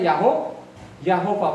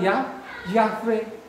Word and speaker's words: Yahweh: Sekalipun nanti bacanya bermacam-macam, kan ada orang bilangnya Yahova. W itu bisa dibaca V enggak? Dibaca V kan begitu. Atau dia bilang Yahweh.